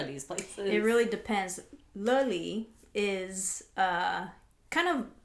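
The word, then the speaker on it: Löyly: So on the sauna fence, I did this place called Loili, but it's pronounced Löli.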